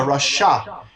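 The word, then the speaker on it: רשע: The word for an evil person in Hebrew is called a rasha. It's spelled resh, shin, ayin.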